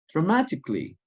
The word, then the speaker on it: dramatically: three syllables dramatic and dramatically four syllables dramatically the a is not pronounced as in the first